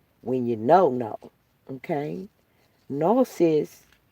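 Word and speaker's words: gnosis: Nosis, it's spelled G. In the Greek, it's spelled G N because the G is silent. Uh G N Yeah, G's moving. Silence. G N O S I S is nosis.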